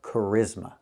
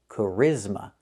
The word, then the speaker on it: charisma: Let's look at the word charisma. We see the ch making the c- sound like in cake. C- c-c charisma. The stress is on the second syllable.